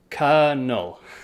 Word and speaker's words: colonel: um we also have words like colonel kernel so colonel is like a captain or something in the army but the spelling is c-o-l so that first c-o-l has like the l is not there and it's just kernel you see so english spelling